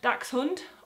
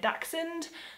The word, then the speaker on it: Dachshund: it's a single word if you see CH and an S it is pronounced the same as an X so another example would